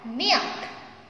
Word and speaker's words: milk: Ada milk. Repeat after me. Milk. K-nya agak dibaca ya. Milk.